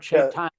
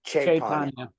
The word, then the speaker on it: Chaitanya: When you have a C like that, it's pronounced CH, even though it's not have the H in front of it. It's Lord Chaitanya, like choo-choo, you know. Okay, Chaitanya.